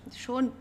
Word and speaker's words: schon: Schon means already. Make sure the pronunciation is schon. Schön with an umlaut means beautiful or nice. Okay, schön und schon.